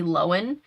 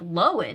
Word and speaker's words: Lohan: because they realized that we've been saying her name wrong because she said it Lindsay Lohan and everybody was like, Lohan, it's not Lohan?